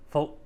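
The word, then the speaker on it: 福: It's pronounced in Cantonese Folk, which sounds very similar to the F word in English.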